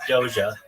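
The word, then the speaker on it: Doge: Yeah, I pronounce it I pronounce it like DOA. Like DOA cat.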